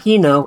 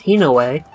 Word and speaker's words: Hinoa: It's not Hino, it's Hinoue.